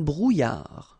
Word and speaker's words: brouillard: Un brouillard. Final D not pronounced.